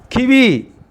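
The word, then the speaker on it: qui vive: Kiwi. Q-U-I-V-I-V-E. Kiwi. E is a silent letter here.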